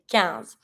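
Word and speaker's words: quinze: 15, we say 15. Every time that you have the I and the N together, it makes it sound un, not in. Careful. 15. So in this one, don't pronounce the U, don't pronounce the final E, and I pronounce the IN like un.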